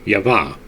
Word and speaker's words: Jehovah: Eve has the name of 3 letters, but the primitive Adam is signified simply by the letter Yod, whence Jehovah should be pronounced Yavah.